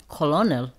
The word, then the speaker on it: colonel: hard these ones like colonel yeah see that one's I probably shouldn't put that in because that's just like you would never know how to say that unless you knew how to say it because that's Colonel you